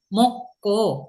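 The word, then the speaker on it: 먹고: Kalau ditanya, Mas Dedi, kenapa bacanya ini moko? Karena itu akhiran K ketemu dengan huruf hidup G itu jadinya double Oke, kabel. jadi G-nya ya kan ketemu dengan G ya kan giok ketemu dengan giok giok double ya kan G-nya double bacanya jadinya K gitu ya jadi K. huruf mati ya huruf mati G ketemu huruf mati G moko masimnida moko masimnida Aku masih kemudian muda.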